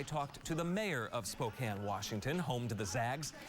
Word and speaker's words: Spokane: Later tonight, it's 2 teams from 2 places that people take liberties with the pronunciation. Syracuse, Spokane, Washington. It's Spokane, Washington, home to Gonzaga University.